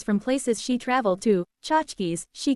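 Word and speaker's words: tchotchkes: Chachkis, she called them. Yes, even Irish girls use Yiddish words in New York. Chachkis pronounced Chhatskis or little anythings.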